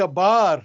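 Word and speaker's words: ܒܬܪ: وكذلك بار، شوف بار، ايوه. تاء ما تلفظ، هي بالأصل باثر بالقديم، بس ما نلفظها، بار، بار، بار، وتعني بعد، بعد.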